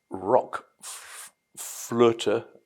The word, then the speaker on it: RökFlöte: about doing but in employing those um the umlout in rock flutter the German pronunciation as near as I can get it of the word flute and rock or Rook being um uh the word for Destiny for um outcome seemed